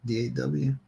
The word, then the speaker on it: Daw: Is that how you pronounce it? D-A-W? Like not law, but Daw? Even though that sounds like it should be spelled D-O-L-L.